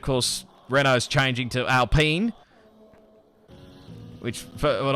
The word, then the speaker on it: Alpine: renault is changing to alpene which for when i first heard about it i thought it was al alpine but uh it's alpine apparently is it a correct pronunciation and uh it'll be